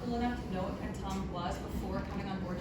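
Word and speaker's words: Printemps: horrified by my pronunciation but um Chris actually pronounces it amazing oh what's here planton we put him on the spot he delivered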